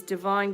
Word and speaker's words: Devine: has come out obviously my last name is divine d-e-v-i-n-e some people tell me that i spell you know my name wrong even though it's my name it's a play on words be divine it's a way of